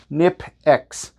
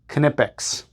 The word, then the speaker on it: Knipex: Apparently it's pronounced Knipex. Knipex. Right?